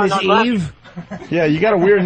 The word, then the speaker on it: Yves: So Is it spelled like Y? E. Yeah, Y-V-E-S. Y-V-E... Your name is Yves. It's not Eve.